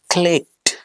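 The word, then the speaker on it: clicked: गड़बड़ है कहीं, क्लिक्ड नहीं बोलेंगे। No, this is the wrong pronunciation. The right pronunciation would be क्लिक्ड। क्लिक्ड। अगर आपने मेरी लास्ट वाली वीडियो देखी हो, एक वीडियो है PKFSCHR के बाद अगर ईडी आता है तो इफेक्टिव और सही प्रोनाउंसिएशन के लिए हम मन ही मन में, हार्ट इन हार्ट, ईडी को हटा देते हैं और वहां पे टी लगा देते हैं।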